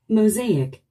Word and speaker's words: mosaic: 우리 한국인은 이 단어를 모자이크라고 합니다. 그런데 원어민들은요? Mosaic. Mosaic. Mosaic. Z의 스트레스가 오고 있군요.